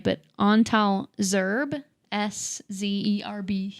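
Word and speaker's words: Szerb: It's called Oliver the Seventh by, I'm not going to say this right, but Antal Zerb, S-Z-E-R-B. I think Zerb is Hungarian. how I would probably pronounce it like that.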